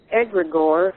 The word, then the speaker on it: egregore: you were talking about egregore that's how you pronounce it I was thinking in